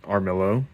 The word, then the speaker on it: Varmillo: So this is the Armillo, as it's pronounced, I believe.